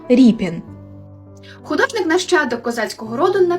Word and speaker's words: Рєпін: підписував себе Ось так а за нормами тодішного українського правопису друга літера читається як і тобто ріпін художник нащадок козацького роду